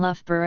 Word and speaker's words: Loughborough: in uncommon single words the place name Loughborough uses two different pronunciations of oof the first youth has the sound is in C F and the second rhymes with Thoreau in a generative approach